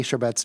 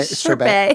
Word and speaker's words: Chabert: Is that how you say Chabert? Chabert. Is it Chabert? What How do you say her name? I know the T is silent. Lacey Chabert. Chabert. I know there's no T.